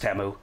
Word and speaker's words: Temu: and is ited temu daddy said not timu it's pronounced temu well I like timu